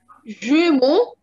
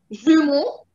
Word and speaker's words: jumeaux: It doesn't change the pronunciation. It's the same pronunciation, just with the X.